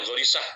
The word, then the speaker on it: Ghorisah: Sebetulnya tulisannya Ghorisah, tapi kan dibacanya Jarisah ya, logat Mesir.